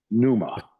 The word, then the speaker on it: pneuma: And it it it's spelled P neu m a numa.